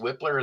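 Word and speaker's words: Wypler: And one of my favorites in terms of technique is Luke Weipler. I've heard it pronounced Whippler as well.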